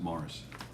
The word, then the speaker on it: Maurice: yeah yeah and it's spelled maurice but they pronounce it mars um all right how did boston miss everybody